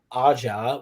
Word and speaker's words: Aja: um which is um sometimes informally pronounced as david ajah which a-g-a-a-a-j-a um who